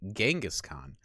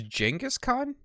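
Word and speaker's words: Genghis Khan: This is reminding me that the way I've pronounced his name for basically my entire life, which would be Genghaskhan, is apparently wrong. I don't know. Uh, I guess it's Jenaskhan.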